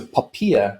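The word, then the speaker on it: POPIA: to great trouble to ask us to pronounce a papia but uh i'm i'm actually right there with you i can't get poppy out of my head so means we can go with poppy act let's call it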